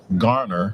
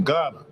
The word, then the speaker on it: Garner: r correct they said that's gner get your diction together man it's not GH I said where I'm is G right don't hate don't hate